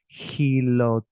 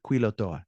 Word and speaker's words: Quilotoa: are but what are Kila oh sorry quilotoa not Hilo I read it with